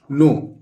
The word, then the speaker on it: know: ये टो, I don't नो। तो ये न लिख दिया, के यहाँ साइलेंट है, एन ओ, और ये डब्ल्यू भी साइलेंट है, तो क्या हो गया, नो।